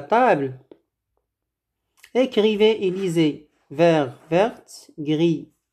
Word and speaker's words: verte: Verte. On prononce le T parce qu'on a ajouté le E à la fin.